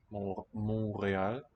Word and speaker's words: Montreal: Montreal, no T pronounced.